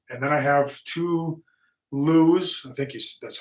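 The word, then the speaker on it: Lew's: good reel uh and then I have two Loos I think that's how you say it l-e-w-s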